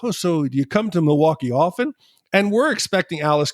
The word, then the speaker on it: Milwaukee: And then Alice Cooper's like, yep, Pete, it's actually pronounced Milwaukee.